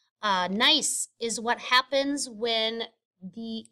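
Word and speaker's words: gneiss: the rock that's called nice uh the g is silent uh nice is what happens when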